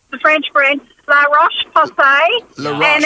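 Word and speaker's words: La Roche-Posay: very fair skin and she wears use the pronunciation the French brand L rash POS and it's a larash um POS and it's a um hydrating moisturizer with an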